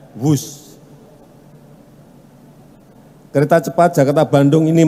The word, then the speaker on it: Whoosh: operasi optimal sistem hebat sekali lagi w h o o SH Tapi bacanya wus kereta cepat Jakarta Bandung